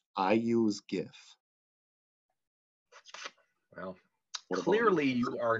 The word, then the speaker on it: GIF: making a decision everybody it's a hard g i use gif well clearly you are